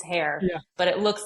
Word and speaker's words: Hoerr: It's hair, but it looks like a variety of pronunciations.